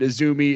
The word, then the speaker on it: AZM: Azumi is spelled AZM, but she's known as Azumi.